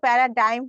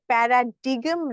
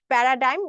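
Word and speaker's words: paradigm: এটার উচ্চারণ কিন্তু প্যারাডাইম হবে। প্যারাডিগম না। অনেকে উচ্চারণটা ভুল করে থাকে। প্যারাডাইম। কারণ হচ্ছে জিটা এখানে সাইলেন্ট থাকবে।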